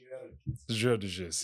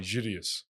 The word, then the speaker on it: Gerges: Gerges. If you want in the Arabic, it's funny. They actually kind of don't pronounce the second G. They say Gideus.